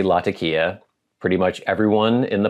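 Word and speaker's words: Latakia: word is pronounced and he spells out l a t a k i a lakia as we say but I know for sure it's not the white man version laka so I say lakia pretty much everyone in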